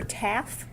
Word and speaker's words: Taff: Is it uh Trooper Taff? Yes, ma'am. Okay, great. I wanted to make sure I pronounced it correctly.